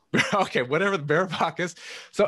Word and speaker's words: Varoufakis: Can you pronounce it for us? Varoufakis. Okay, whatever, Varoufakis.